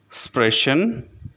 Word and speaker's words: sprechen: The next letter combination is S, P, S, T, which is pronounced like the letter combination S, H, P, S, H, T.